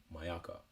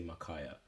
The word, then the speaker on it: Mayaka: Like my dad's name, Mayaka. These guys choose to say Makaya.